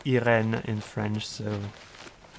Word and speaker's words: Irene: and hope we cross paths with um Iron Metric, Irene Metric. Her name is pronounced Irin in French.